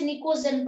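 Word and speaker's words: pnictogen: P silent होता है, यहाँ पे पी साइलेंट है, हम इसे निकोजेन पढ़ते हैं।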